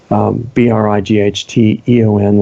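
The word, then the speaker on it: Brighteon: on Brady on comm which is spelled B righ t EO n like bright Eon bright age and our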